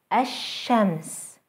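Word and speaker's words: الشمس: a sun letter after the definite El will result in two things losing the l sound in the L and doubling the initial Sun letter itself some letters are Del Sol let's try to pronounce a word that starts with an Al followed by a sun letter as shems as shams the Sun a fairly a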